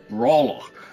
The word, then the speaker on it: Braloch: Far to the south along the range are rival cities Ruraja, which is R-U-R-A-J, and southeast of it, Braloch, which is B-R-A-L-O-C-H.